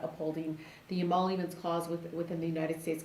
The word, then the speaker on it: emoluments: So can you explain a little bit more about the emollient? How do you say that? Emoluments.